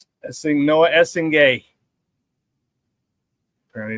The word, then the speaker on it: Essengue: Essing Noah Essen. Apparently it's how it's pronounced.